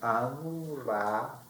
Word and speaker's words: Amrafel: Amrafel, e falo assim, Amrafel, essa pronúncia hebraica antiga desse nome, que é no aramaico caldaico, é Hammurabi, Hammurabi, Fel, de guardiado.